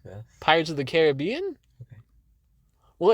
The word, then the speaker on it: Caribbean: Where today I will be reviewing Pirates of the Caribbean on Strangers. Ew. Excuse me? Why? What? Why would you say it like this? Pirates of the Caribbean? Okay. Well, it's supposed to be pronounced Caribbean.